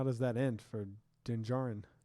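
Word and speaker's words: Din Djarin: does that end for denjarin did i say it right yeah he just flies away and i always say jin darin you got it right don't don't mess it up you got it don't even think about it now i always say it wrong yeah you do sorry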